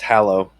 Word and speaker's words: Hallow: That's Hallow. Hallow. Oh, yeah, I guess you can. Like Halloween. This is how. Or hallowed be thy name.